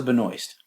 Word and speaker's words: Benoist: Hey, this is Melissa Benoist."